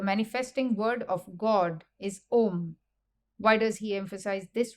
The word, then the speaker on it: Om: The first letter, A, is the root sound, the key, pronounced with touching any part of the tongue or palate. Represents the last sound in the series, being produced by the closed lips.